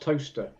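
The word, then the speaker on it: Towcester: that town up the road for me it's pronounced toaster oh toaster toer but it's pronounced toaster nobody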